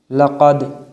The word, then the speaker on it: لقد: یا جیم زبر یج، عین لام زبر عل، یجعل، یجعل۔ لقد، لام زبر لا، قاف دال زبر قد، لقد، لقد۔ خلقنا، خا زبر خا،